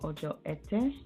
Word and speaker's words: Ojo Ete: Friday, we have Ojo Ete. I think that's how you pronounce it, E-T-E.